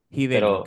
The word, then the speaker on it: Giddel: Quiero saber cómo se pronuncia tu, mi querido, cómo se pronuncia tu apellido, el Hidel. Mira, mira, mi nombre es Hidel. Hidel es mi segundo nombre. Hidel.